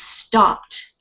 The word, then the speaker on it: stopped: stopped stopped stop repeat just because you see an ed here doesn't mean that that the Ed gets pronounced in this case it's stopped stopped right so which one is it yeah it's the T sound right stopped okay okay okay Paulina